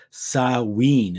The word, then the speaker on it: Samhain: The festival observed at this time was also called Samhain. It's called Samhain, even though it's spelled Samhain, like Samhain, like Samhain, but it's pronounced Samhain when you hear other people pronounce it from history.